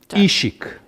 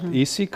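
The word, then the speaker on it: Işık: We asked how to pronounce our first board player, and the answer was Can Ishik. So not Isik, I was saying Isik, it was more Ishik.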